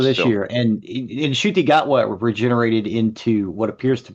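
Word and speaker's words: Ncuti Gatwa: I really need to get into pronounce the name again, In please. Shutigatwa.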